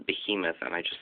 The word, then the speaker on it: behemoth: off this monster I know that it's actually pronounced behemoth and I just said to him off for